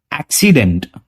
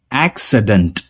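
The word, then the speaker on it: accident: इसमें भी आई की जगह मैंने काफी लोगों को यूज करते हुए देखा है एक्सीडेंट, और एक्सीडेंट गलत प्रोनाउंसिएशन होता है। ठीक है, इसका सही प्रोनाउंसिएशन है एक्सीडेंट, एक्सीडेंट।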